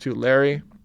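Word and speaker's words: Tulare: yet and if I I think I mispronounced that yesterday this pronounced to Larry and you can see where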